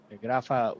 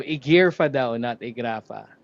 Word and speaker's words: IGRFA: Graa with a 2-nil margin in 6 minutes or rather is how they would like to pronounce it. Leo Thank you sora comment section. So gear fra thank you so much for the correction.